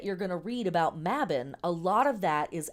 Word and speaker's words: Mabon: the sabbaths so um mabon or mabin we in America here often uh pronounce this mabon but the word is correctly pronounced mabin um is one of